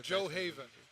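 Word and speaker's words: Gjoa Haven: Oh, Joe Haven. Joe Haven. Joe Haven. Cool. But the way you spell it. Is Joe Haven. The way you spell it is Gujoa Haven.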